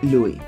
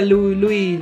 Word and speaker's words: Louis: habéis dado cuenta digo Luis y no Luis o no sé qué Porque una vez dije Luis y todo el mundo se pronuncia luisis Luis Luis la es no se pronuncia Así que lo estoy